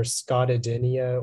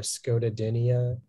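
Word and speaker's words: scotodinia: Yeah, the two pronunciations are Scotadinia or Scotadinia.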